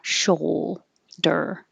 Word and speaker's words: shoulder: lunch date shoulder shoal it looks like oh you but we just say oh show der and this is very